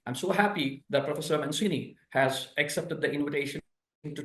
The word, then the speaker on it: Mancini: you perfectly pronounce my name that many people pronounce in a different way but it's a manini